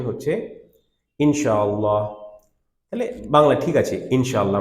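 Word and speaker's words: إن شاء الله: হলো তারপর বলছে ইনশাআল্লাহ ঠিক আছে এটা প্রপার প্রোনাউন্সিয়েশন হচ্ছে ইনশাআল্লাহ তাহলে বাংলা ঠিক আছে ইনশাআল্লাহ আমরা তাজবিদ ক্লাস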